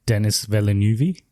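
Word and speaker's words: Denis Villeneuve: think he's French Canadian they say his name in India as Dennis villeneuvee yeah that's the uh correct presentation pronunciation yeah uh but yes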